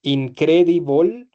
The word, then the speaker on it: incredible: Todas las palabras que terminan en el e, ¿cierto? En el e se pronuncian como si terminaran en OL. ¿Vale? Entonces, incredible, horrible, terrible. Listo.